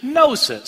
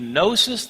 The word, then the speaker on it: gnosis: The Greek word for knowledge is gnosis, spelled with a G, Gnosis.